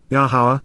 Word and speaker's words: Yahowah: the household of Yahowah, Yahowah, the proper pronunciation of Yahowah, our Eloah, God has